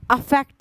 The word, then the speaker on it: affect: अगर AFFECT अफेक्ट लिखा है, क्या लिखा है?